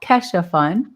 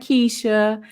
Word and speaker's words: Kesho: Okay, it's Kesha, excuse me, at Kesho Fund. Kesho. I had to make sure that I pronounced it correct. It's not Keisha, it's not Kiasha, it's not Kesho, it's Kesho Fund.